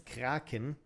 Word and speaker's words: Kraken: In German, it's Kraken. So, I'm going to say Kraken.